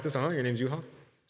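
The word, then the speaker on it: Juho: My name is Yu-Ha. Uh-huh. Uh-huh. Uh-huh. Like U-Haul? Yeah. It's J U H O. It's pretty hard to pronounce.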